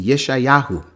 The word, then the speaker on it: Yeshayahu: over in first Temple times it would be Yeshayahu which is Isaiah you know and then in